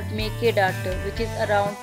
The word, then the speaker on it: Mekedatu: But there is a place called Mekedatu which is around 4 kilometers away on the other side of the river.